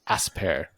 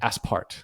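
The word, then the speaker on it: Aspairt: I'm going to mispronounce his name too, but it's Philibert Asper. Or Aspart. I think it's Asper, though. I think the T is silent on that one.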